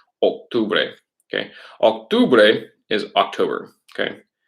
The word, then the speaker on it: octubre: Remember, in Spanish, it's octubre, octubre, not octubre, octubre. Okay, it's the O's in Spanish make an O sound, octubre.